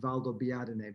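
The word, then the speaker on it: Valdobbiadene: going is valdobiadine italy it took me quite a lot of practice to be able to pronounce the name of the town valdo biatene but but i finally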